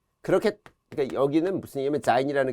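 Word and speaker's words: Sein: 그래서 이 졸렌과 자인이라는 게 딴 게 아니라 이거 선생님 왜 S 발음을 하네? 그럼 뭐 독일어 하시는 분은 잘 아시겠지만 독일은 S가 Z 발음이 납니다.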